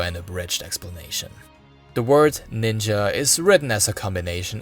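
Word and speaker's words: 忍: Abridged explanation the word ninja is written as a combination of these two Kani letters pronounced as nin and either sha or ja the second Kani is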